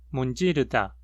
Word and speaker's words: 문지르다: Palavras com 3 ou mais sílabas pronunciam a segunda sílaba da palavra com maior altura, maior frequência, ou seja, num tom mais alto que as demais sílabas. 어머니, 문지르다.